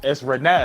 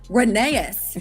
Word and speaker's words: Renes: I added another syllable in there. I started calling him Reneus.